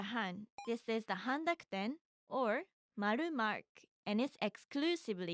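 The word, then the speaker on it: を: Wo is actually more commonly pronounced as o, and can sometimes be pronounced or depending on the syllable that comes after it.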